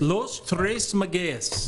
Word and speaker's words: Los Tres Magueyes: pronounce it, Magays? Pardon me? Is that how you pronounce it, Magays? Los Tres Magueyes. Magays, okay, thank you.